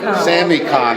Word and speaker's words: SamiCon: we're here at the semuc on is that how you say it Sammy Sammy Khan except I know my kids